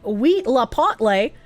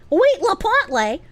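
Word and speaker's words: huitlacoche: Huitalocoque, pronounced like wheat la potle. Wheat la potle.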